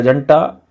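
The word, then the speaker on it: junta: द जनता या हंटा बोलते हैं जिसको ईरानी लैंग्वेज में, JU का प्रोनाउंसिएशन H भी होता है।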